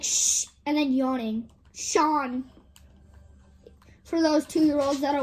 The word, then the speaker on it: Sean: But it's not spelled like normal Sean. It's spelled S-E-A-N. That's proof that my dad's name actually starts with, that is actually spelled S-E-A-N. But his name is Sean.